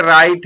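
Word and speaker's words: right: हो जाएगा साइट माने दृष्टि यहां पर देखिए राइट है तो यहां पर भी देखिए एच को साइलेंट कर देंगे यहां राइट है राइट माने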